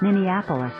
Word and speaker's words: Minneapolis: Minneapolis.